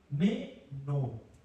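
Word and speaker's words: μένω: El verbo se pronuncia, como ustedes ven ahí, meno.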